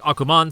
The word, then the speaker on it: Ackman: And now finally getting into Go Ackman, which in Japanese is said like Akuman, so like Akuma, But it's about this